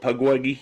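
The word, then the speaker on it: Pukwudgie: Pugwuggy.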